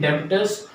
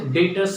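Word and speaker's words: Debtors: इसके बाद हम लोग अगर देखें डेटर्स क्या होते हैं, या आप इसको प्रोनाउंस कर सकते हैं डेबिटर्स। दिखने में लग रहा है पर इसको प्रोनाउंस डेटर्स से किया जाता है।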